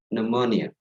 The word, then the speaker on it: pneumonia: There is P before M. That's difficult. Like penuh, it's difficult. Yeah. then when, we don't have to pronounce the P. So it's actually easy. We say pneumonia, right? Pneumonia.